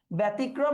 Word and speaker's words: ব্যতিক্রম: বিবৃত উচ্চারণ হলে হবে ব্যতিক্রম। আর যদি সংবৃত হয় তাহলে হবে ব্যতিক্রম। এইটা সংবৃত উচ্চারণ।